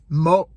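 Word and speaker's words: một: But anyhow, number one, mo, which is, I don't have all the accents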